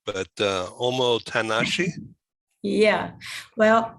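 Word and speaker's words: omotenashi: i'm not going to say it right but omo tanashi yeah well on mo tenaci that's our top motor because uh the that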